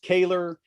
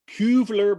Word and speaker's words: Koewler: sounds k-o-e-w-l-e-r so it's it's pronounced kaler it's looks like kubler back in the old country but as we know